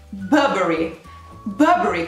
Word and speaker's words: Burberry: Andiamo a vedere, ok, più o meno ero sulla linea d'onda corretta, si pronuncia Burberry, quindi no Burberry, quindi la R no, Burberry, quindi Burberry no,